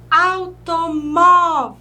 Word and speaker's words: automóvel: Vejam bem, automóvel. Viram só? O móvel. Aqui nós temos a última sílaba e essa é a penúltima.